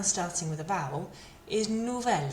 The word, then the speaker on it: nouvel: Masculine plural noun, nouveau, again, feminine plural noun, nouvelle, and here, masculine noun starting with a vowel is nouvelle, spelled like this.